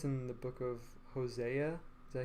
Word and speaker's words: Hosea: And there's another place in the Bible, I think it's in the book of Hosea.